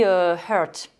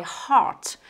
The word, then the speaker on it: heart: dire you hurt my heart. Donc là, vous voyez que dans heart, le cœur, ce EA, vous allez prononcer A. C'est un A un peu ouvert, mais certainement pas E, qui là est le son schwa.